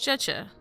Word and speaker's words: Zhezhi: So it's pronounced Zhezhi. Hope I pronounced that right.